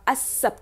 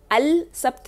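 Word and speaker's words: السبت: आप देख रहे हैं सब्त में अलिफ लाम है, अल है, लेकिन उसको प्रोनाउंस नहीं किया जाता, अस सब्त कहते हैं, अल सब्त नहीं कहते, अस सब्त कहते हैं।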